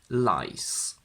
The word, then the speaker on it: lice: say one louse to lice. We need to be very careful with the pronunciation of this word. The plural of louse is lice with a voiceless s, but the plural of